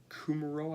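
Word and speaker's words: Kumerow: Packers preseason darling Jake Kumaro, I believe is how it's pronounced, went to IR with a severe shoulder injury.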